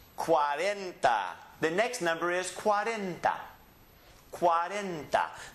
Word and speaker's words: cuarenta: number is cuarenta Cuarenta the syllables are divided qua ran da cuarenta Cuarenta believe in your book I had the syllables divided for you it helps pronounce the word if you haven't broken into its syllables so it's Cuarenta read it again cuarenta Cuarenta the next